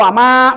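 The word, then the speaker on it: وَمَا: Maka membacanya harus lebih dari dua harakat. Hati-hati. Wama. Kalau wama berarti itu dua harakat. Lebihkan.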